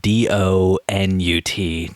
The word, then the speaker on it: donut: So for people out there wondering, yes, it is donut, spelled D-O-N-U-T, not do not, which is why we're pronouncing it donut.